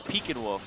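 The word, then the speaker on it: Pekinwoof: I thought it was Peck and Wolf because that's how it looks phonetically, but it's Peek and Wolf because it's named after a Pekingese dog.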